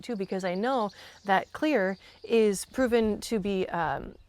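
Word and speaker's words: Xlear: It's spelled with an X though, so X L E A R, but it's pronounced clear.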